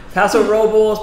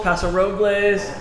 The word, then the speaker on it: Paso Robles: Paso Robles, Paso Robles. I'm gonna tell you. Yes. Say What do the locals say?